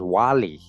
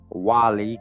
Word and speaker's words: Guale: Guale Indians, right? Pronounced Wali. Wali, Guale, Wali, Wali.